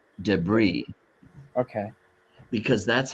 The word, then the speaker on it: debris: And Oh, in French, if you have a vowel like the letter I and then an S, the S is silent. So this word, we pronounce it deb- debris, debris, okay.